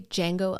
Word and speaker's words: Django: D is silent, D.